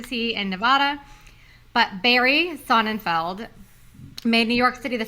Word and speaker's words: Sonnenfeld: each according to Barry sonnenfield how do you say his name is like Seinfeld sonnenfeld it was the best